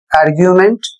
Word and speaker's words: argument: अगला शब्द है ARGUMENT, आर्ग्यूमेंट, और इसका अर्थ होता है तर्क।